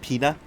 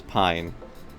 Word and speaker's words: Pina: That's how you say it? Pina? Pina? I thought it was Pine when I first saw it.